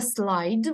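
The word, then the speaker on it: slide: слайд - це ковзати як запам'ятати мені слово слайди воно пишеться с л і д е зараз я вам напишу Ось так дивіться с L і Ось так читається слайд пишеться слідам ні ось це слово нагадує слово слід в українській мові Я думаю всі ви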